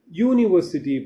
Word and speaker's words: university: You see, you notice here, university pronounce ಮಾಡುವಾಗ you in the start ಆಗುತ್ತೆ word, but you should not think that it is a vowel sound. You ಇದೆ ಅಂದ್ಬಿಟ್ಟು vowel sound ಅಲ್ಲ ಅದು, ಯಾ sound.